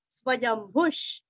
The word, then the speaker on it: स्वयंभुः: स्वयंभू, स्वयंभू य के ऊपर आघात, आधा म भू दीर्घ और विसर्ग का उच्चारण आधा श, स्वयंभुष, स्वयंभुष, शंभु भूरस्व, रादित्य